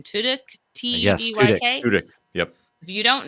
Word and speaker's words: Tudyk: You're also Alan, I never know how to say his last name, Tudyk, Yes, Tudyk.